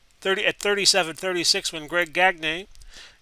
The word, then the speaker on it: Gagne: flyers win 36 30 at 37-36 when greg gagne gagne see there we go the pronunciation again he pins one of the miller